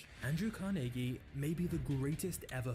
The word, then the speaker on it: Carnegie: Into abject poverty Andrew carnegi was born in Scotland which is the reason I'm saying carnegi instead of Carnegie because this is how the Scots actually pronounce it but Andrew's start in